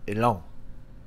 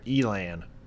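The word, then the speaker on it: Élan: does for a second so elong or elan for the american pronunciation uh fine i wish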